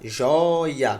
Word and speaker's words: joia: jó i i a joia bem não é a tia assim joia é um ditongo né jó e a joia é paroxítona terminada em ar a sílaba forte é a penúltima não se acentua mais